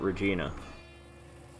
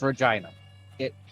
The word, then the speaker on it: Regina: I would pronounce it Regina. Wrong. What is it then? It's Regina. It rhymes with... Yes. Regina. Yes, Regina.